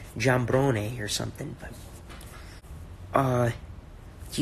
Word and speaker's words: Giambrone: kind of a problem I pronounce a gamberoni but like just damn but there's an eye in there so should be like John brownie here's something but uh